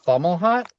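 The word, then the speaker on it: Fomalhaut: It's called uh Fomhut. Um, I can spell it.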